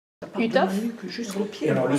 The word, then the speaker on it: Uhthoff: Alors, Utoph, c'était à la fin du 19e siècle. C'était un médecin allemand. C'était un ophtalmologiste allemand. Donc ça s'écrit U-H-T-H-O-2-F. Ce monsieur Utoph, il avait trouvé que des gens qui ont